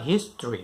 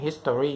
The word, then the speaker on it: history: ค ำ นี้ อ่ า น ว่ า history น ะ ค รั บ history ห ล า ย ค น ก็ จ ะ อ อ ก เ สี ย ง history น ะ ฮ ะ history จ ริ ง